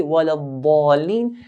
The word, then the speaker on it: ولا الضالين: So dad should be pronounced clearly, walad dalin.